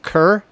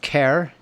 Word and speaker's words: Kerr: good time together but he pronounced it Kerr it's why I bring that up yeah my understanding is in in Britain it's more pronounced care especially in Scotland but this is where